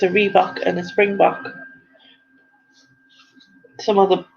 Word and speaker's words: rhebok: So what animal is a reebok a species of? and it's spelt not the same way as the trainer, but it's spelt RHEBOK.